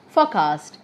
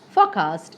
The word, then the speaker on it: forecast: on the second syllable, such as forecast if it's a noun, forecast if it's a verb, challenge if it's a